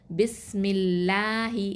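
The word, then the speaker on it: بِسْمِ اللّٰهِ: இப்போ உதாரணத்துக்கு பிஸ்மில்லாஹி, அல்லாஹ் அப்படிங்கிற வார்த்தைக்கு முன்னாடி என்ன இருக்குது, மீமில் கஸ்ரா இருக்குது, பிஸ்மி அப்புறம் அல்லாஹி. அப்போது நம்ம எப்படி ஓதுவோம், பிஸ்மில்லாஹி, லா கிடையாது, லாஹி, ஓகே.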